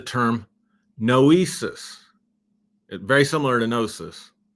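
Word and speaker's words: gnosis: Very similar to Nosis. Nosis, by the way, is spelled G N O S I S.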